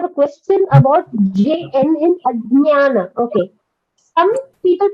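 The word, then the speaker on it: अज्ञान: It is not Ajnana. That is certainly a wrong pronunciation. It is Ajnana. So the pronunciation has to be Ajnana. Though in English we are limited by the letters that we have, but it is J and Nya. When these two letters get together, J and Nya, you get Nya. So the pronunciation is Ajnana.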